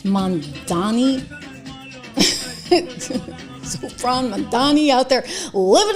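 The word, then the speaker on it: Mamdani: Mandami, maybe I spelled his name. Did I spell his name wrong? It's Mandani.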